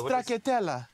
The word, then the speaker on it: stracciatella: What, how do you spell it? Stracciatella.